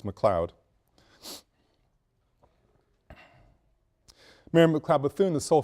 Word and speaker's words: McLeod: spelling is correct and the pronunciation is correct it's McLeod mayor McLeod Bethune the